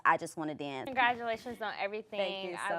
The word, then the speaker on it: IJUZWANNADANZ: It's IJUZWANNADANZ. It's kind of long, but it's pronounced I Just Want to Dance.